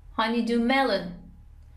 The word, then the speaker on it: honeydew melon: Honeydew melon, honeydew melon. Stress is on the first syllable of melon, honeydew melon, طالبی.